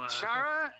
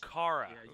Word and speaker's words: Chara: The little Chara? No, Kara.